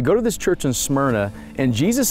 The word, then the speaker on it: Smyrna: us the city of Smyrna and the ring get to the study smyrna means mer you can hear it in the pronunciation of the word Bible readers are well